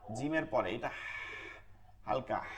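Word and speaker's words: جيم: যেমন হা লম্বা হা জিমের পরে এটা হালকা হা আর গোল হা ভারী আওয়াজ হা কোনটা হচ্ছে আপনার শক্ত হবে কোনটা নরম হবে শক্ত কোনটা যেমন জিম জিমকে চাপ দিয়ে পড়তে হবে জি জি জিমকে চাপ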